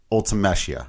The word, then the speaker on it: Ultimecia: That's how I pronounce it. I've heard some people say Ultimecia, Ultimecia, depending on how you, but whatever, Ultimecia. I don't know. But yeah, fair enough. We can each pronounce it our own way.